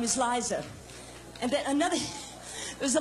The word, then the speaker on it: Liza: it's really simple see look it's Liza with the seat not Lisa with the nest cusp Lisa women esko's